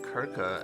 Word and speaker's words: Circe: Interesting that they pronounce it Kirka and not Circe.